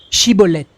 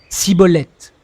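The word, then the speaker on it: Schibboleth: Il lui disait alors eh bien dis chibolet et il disait cibolette car il ne pouvait pas bien prononcer sur quoi les hommes de Galahad le saisissaient et l'égorgeaient près du guet du Jourdain.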